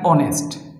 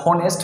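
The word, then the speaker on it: honest: উচিত কিন্তু এখানে কি এটা কি আসলে এটা কি হনেস্ট হনেস্ট নাকি অনেস্ট এটাকে কিন্তু ভাই আমরা লিখি হনেস্ট এইচ ও কিন্তু বলার সময় কি বলি অনেস্ট বলি এখানে কিন্তু আমরা হনেস্ট বলি না তার মানে এটা কি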